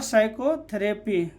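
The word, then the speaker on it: psychotherapy: Psychiatrist, ठीक है, और साइकोथेरेपी, ये क्या है, एस के पहले पी है ना, तो यहाँ पर क्या, पी क्या हो गया, साइलेंट, ठीक है।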